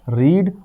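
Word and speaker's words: read: और पढ़ने का होता है रीड, और रीड का थर्ड फॉर्म होता है रेड। प्रोनाउंसिएशन बदलती है, चीजें वही रहती हैं, रीड, रेड, रेड।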